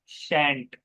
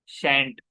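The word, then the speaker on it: shan't: तो शेल नॉट का हो जाता है शैंट। जैसा विल नॉट का क्या होता है? वांट हो जाता है, शैंट।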